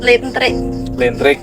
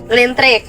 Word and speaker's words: lintrik: yang kedua itu pelet Lentrik. lintrik. Hampir bacanya listrik ya.